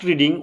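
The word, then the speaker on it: read: তারপর E number বলছে, ইফ ইট ইজ রেড, রিডের তৃতীয়রূপ কিন্তু দ্বিতীয় এবং তৃতীয়রূপের উচ্চারণ কিন্তু রেড হয়, রিড, রেড, রেড।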